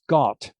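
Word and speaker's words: Gott: that's right it's Germany now in Germany the dialect changes and God is pronounced got but this can't be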